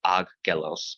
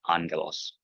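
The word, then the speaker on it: ἄγγελος: First gamma is pronounced not like a g, but like an N sound. So not aggelos, but angelos.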